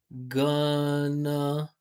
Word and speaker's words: gonna: We don't say going to want to. That's what I hear in my class. I hear going to want to. We say gonna, right? Stressed, unstressed, gonna wanna, right?